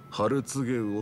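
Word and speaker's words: 春告魚: お客さん、それはね、ハルツゲウオって読むんですよ。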